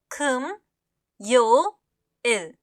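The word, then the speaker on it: 금요일: होता है कम्योल कम्यल उच्चारण पर हम ध्यान देंगे। यह होता है कम यो इल।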